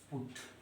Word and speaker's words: put: तो बट में हम यूटी को पढ़ते हैं अट। बट में यूटी का प्रोनाउंसिएशन क्या कर रहे हैं, उच्चारण क्या कर रहे हैं, अट। और पीयूटी में क्या कर रहे हैं, यूटी का उच्चारण उट।